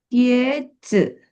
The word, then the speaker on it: 鞋子: 鞋子 Karena dia nada dua ya, jadi gantung di atas 鞋子鞋子 sepatu.